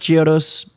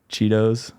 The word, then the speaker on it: Chiodos: What's the worst pronunciation of Chiodos you've ever heard? All of them that aren't right. I don't know. Chiodos. Chiodos. I've heard like people. Chiodos. Yeah, Chiodos. Chiodos. Cheetos. Cheetos a lot.